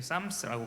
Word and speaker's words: Psalms: 우리 영어에서는 PSALMS 이렇게 하는데 P는 묵음이기 때문에 쌈스라고 부르죠.